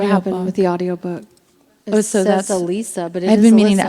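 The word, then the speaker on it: Allysa: Lily's mother or Alysa which we pronounce it Alyssa in the movie yeah I'm not sure what happened with the audio book Alisa but I've been meaning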